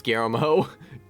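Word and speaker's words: Guillermo: the Shadows to pronounce GMO. GMO. GMO. GMO. GMO. You got to you just got to turn the two L's into a Y.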